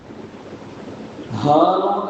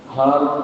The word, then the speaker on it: ஹாரூன்: மனிதனை பற்றி அல்லாஹ் சொல்றான் ஹாரூன் அப்படின்னா மூஸா அலைஹிஸ்ஸலாத்துடைய சகோதரர் அவங்க நபி ஹாரூன் இந்த ஹே உச்சரிப்புல வந்தா அவங்க வந்து என்ன நபி காரூன் அப்படின்னு இந்த காஃபினை உச்சரிப்புல வந்தா அவன் வந்து மூஸா அலைஹிஸ்ஸலாம் காலத்தில் வாழ்ந்த ஒரு எதிரி இவன் மூஸா அலைஹிஸ்ஸலாத்துக்கு பெரிய